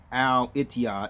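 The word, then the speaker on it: الاتحاد: will write right here etiod is actually pronounced al itiya in the arabic language that's what that is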